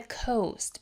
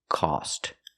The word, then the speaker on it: cost: not correct if you want to divide the coast between you and your friend you can ask